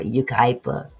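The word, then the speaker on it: Yucaipa: a Big Five parking lot in I can't pronounce that. You Ukipa. Is that correct? Barber Yukipa.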